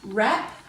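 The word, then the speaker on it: wrap: write it three times so we're going to not stand that W because we know it's a silent letter but when we spell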